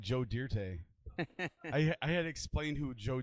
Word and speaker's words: Dirt: It's pronounced Dirte, like it's French. It's Dirte.